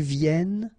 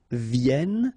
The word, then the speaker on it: viennent: And then ils viennent. So remember, as usual in French, when we talk about conjugation, E-N-T at the end, you don't pronounce it here.